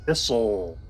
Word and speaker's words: thistle: Victory talk letting us thistle thistle silent t two Mana I am